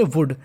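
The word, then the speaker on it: would: like to do that W ओ यू एल डी को पढ़ेंगे वुड L silent रहेगा वुड you like to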